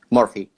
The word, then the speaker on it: Morfi: name say it properly my name is Murphy like you write it perfect here in Spanish as you write you pronounce no so it's morphe yeah perfect sorry guys